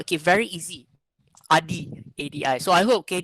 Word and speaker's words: Adi: My name is Adi, ADI. It's very simple. Okay, some like Chinese, some pronounce it as, okay, somehow, but it's still okay correctly okay pronounced.